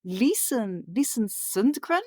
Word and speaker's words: Lisen Sundgren: And today I have a guest from Sweden, Lisen Sundgren. Am I pronouncing that right?